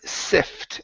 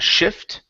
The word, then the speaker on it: sift: Uh next up is the word sift instead of shift. Okay. Sift and sift for gold.